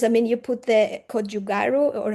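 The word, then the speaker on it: gochugaru: I mean, you put the kjugaru or how do you pronounce it?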